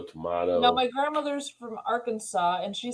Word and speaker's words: Arkansas: this is our Kansas no this is Arkansas but it's spelled like Kansas on the thing yeah Arkansas yeah right our Kansas that's how it's spelled damn it Arkansas nobody